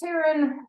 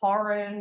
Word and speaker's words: Taryn: My first name is pronounced Taryn, but I've been called Tarin or Tarin at different points in my life, and